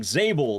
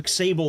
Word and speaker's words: Xable: I'm pretty sure your name should be pronounced like Zable. Like the X is silent. I don't know why the I've been calling you exable this whole time, but I've been doing